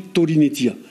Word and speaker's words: Korinetia: Un exemple dans la Bible, Korinetia, ça s'écrit Korinetia, mais on le prononce aujourd'hui Torinetia.